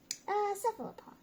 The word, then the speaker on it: cephalopod: How do you think we pronounce this word? Cephalopod.